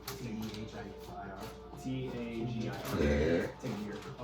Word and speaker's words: Tagir: T-A-G-I-R. Tagir. Oh, I thought it was Taker. Yeah, Tagir. Super Saiyan.